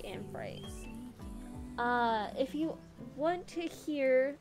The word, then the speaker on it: Amphitrite: But there's also another way to say her name, which is Amphitrite, but I say Amphitrite.